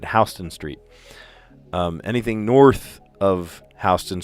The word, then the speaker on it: Houston Street: I know it looks like Houston Street. You pronounce it Hston Street.